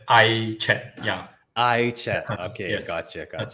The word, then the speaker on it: AiChat: We pronounce as AiChat.